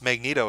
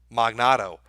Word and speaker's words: Magneto: Because he tried to pronounce Magneto as a name. Magnato.